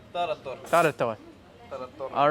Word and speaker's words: tarator: Do I pronounce that properly? Shopska? Shopska. Yes. Okay. And then tartor? Tarator.